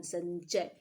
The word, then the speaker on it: संचय: इस शब्द में अनुस्वार अंग का उच्चारण अ जोड़ न की तरह हो, इसलिए संचय।